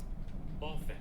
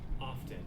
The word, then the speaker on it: often: the British one do often and then the American often yeah so it does actually include two different pronunciation Keys one with the T and one with the